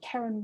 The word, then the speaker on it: Karenne: It's called First Light, and the poet is Karen Wood, and that's spelled Karenne, Wood.